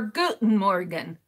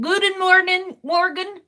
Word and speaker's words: Guten Morgen: So what I want to know is, do I pronounce it with the T or with no T? Is it Guten Morgen, Morgen, or Guten with the T-E-N, Morgen?